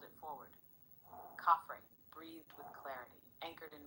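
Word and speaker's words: Khafre: The name is Caffrey, properly rendered as open quote, Caffrey, with the first syllable resonant in the upper throat and the second light almost like breath.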